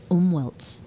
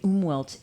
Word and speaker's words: Umwelt: And this week I've been reading a wonderful book that has introduced the word umwelts. And umwelt is Umwelts? Yeah, Can you Umwelt, spell that?